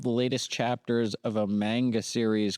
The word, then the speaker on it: manga: It's pronounced manga, I believe.